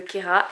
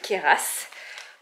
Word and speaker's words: Queyras: non c'est ka voilà on ne prononce pas le S ma PIPA d'amour ne